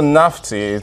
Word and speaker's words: Nafti: So Nafti, the real pronunciation is Nafti.